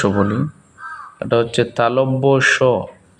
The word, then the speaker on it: তালব্য স: অন্তস্থ জ, বয়ে বিন্দু র, ল, তালব্য স, তালব্য স। এটাকে আমরা অনেকেই তালিবাস্য বলি, এটা হচ্ছে তালব্য স।